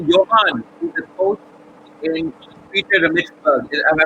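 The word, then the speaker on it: Pietermaritzburg: Nicky Johan, who's the coach in Peter Maritzburg. Have I pronounced it right? Peter Maritzburg, yes, it is in Natal.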